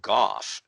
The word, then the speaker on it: Goff: from pentagon spokeswoman susan goff and it's pronounced gough by the way uh made it sound